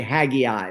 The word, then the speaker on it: Haggai: micah 6 14 and haggai one six some people like to say haggy i but it's h-a-g-g-a-i so however people want to pronounce that so why did i